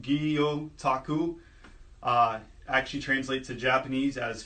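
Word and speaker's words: gyotaku: so the art from aggie otaku pronounced EEO Taku actually translate to Japanese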